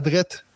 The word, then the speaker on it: droit: dites tu sais tout droit il y a un T à la fin là mais vous le prononcez pas il y a plein